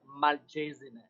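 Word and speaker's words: Malcesine: the mayor of malchezny i can confirm it is pronounced malchezine yeah mulches i was close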